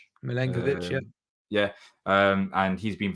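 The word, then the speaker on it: Milenković: I don't know if I pronounced his name right, Milinkovic. Milenkovic, yeah.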